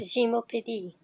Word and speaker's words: Gymnopédie: become wildly popular called Gymnopédie. If you want to hear the name of the piece pronounced correctly in its original French, it would sound more like Gymnopédie.